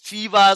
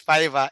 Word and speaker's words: Fiverr: some call it fever some call it I have I had a lot of pronunciation about it but I belied it's f that how they call it is Fiverr f i v e r so it's Fiverr I believed so um